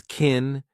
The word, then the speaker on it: can: We pronounce it as kin, unstressed, because the main verb is what you hear.